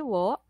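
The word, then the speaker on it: を: O plus the o written by wo. But pronounced as o.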